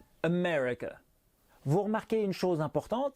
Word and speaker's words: America: accentuée ça donnera japan pour l'amérique par contre c'est la deuxième syllabe qui est accentuée et safra américain america vous remarqué une chose